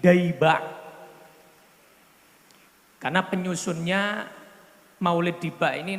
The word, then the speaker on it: Diba': adalah Maulid Diba Maulid Diba ini sebetulnya ejaan yang benar itu bukan Diba tapi daba karena penyusunnya Maulid Diba